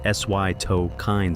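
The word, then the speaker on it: cytokine: This phenomenon called a cytoine storm pronounced sytokine storm is what transforms Ebola from a severe illness into a systemic catastrophe.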